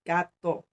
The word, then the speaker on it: Gateau: gato mean is french for pastry with cream pronounced gato saborga is pronounced saborga i live on a